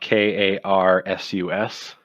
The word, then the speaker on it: Karsus: Karus is spelled Karsus. K-A-R... S-U-S. Karsus.